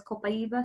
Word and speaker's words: copaiba: People in the Amazon rainforest, in the indigenous place where this is grown, pronounce it as copaiba. So I like to use the native language pronunciation as a sign of respect for them.